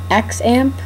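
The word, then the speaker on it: XAMPP: google for this program it's called x amp it's called it's spelled x a m pp um google it then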